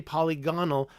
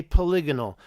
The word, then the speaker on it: polygonal: I don't say Critaeus, I don't say Timaeus, I don't say polygonal, I say polygonal.